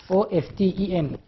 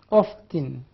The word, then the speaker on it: often: Well, during the 17th century, the word often is pronounced without t without t often. It is written of course but is not pronounced o fen. But during the 18th century it is pronounced of tin of tin. You see there is a sound for the letter T t the letter T. There is the sound.